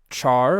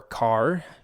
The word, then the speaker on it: CHAR: We have char or car. I guess you should pronounce it car because it's character, but I've always said char, even if that's incorrect.